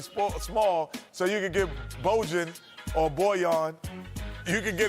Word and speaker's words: Bojan: You know, His he name needs is to make it his Bojan. fourth time. Because it's Hey, that's what Bojan Bogdanovich. it's spelled like Trojan, so It is. it's not Bojan.